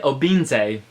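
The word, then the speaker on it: Obinze: wrote this down with phonetics to make sure pronounce it correctly which is FML loop and Oh beam say whoa okay that's correct cuz I listened to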